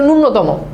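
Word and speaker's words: ন্যূনতম: জন্য নীরব নীর এই বানানগুলোতে দীর্ঘীকার বসে নূনতম বানানটা খুব গুরুত্বপূর্ণ ননতম বানানে দেখ এইয এর সাথে ন এর সাথে একটা জফলা আছে কিন্তু আমরা উচ্চারণ করি নূনতম এটা কিন্তু টোটালি ভুল উচ্চারণটা হবে নূনতম তুমি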